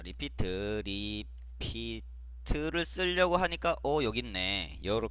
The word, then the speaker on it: REPT: 자, 두 번째로 리피트라고 있습니다. REPT라고 E, 발음하지 마시고요. 리피트, 되풀이한다, 반복한다 라는 뜻입니다.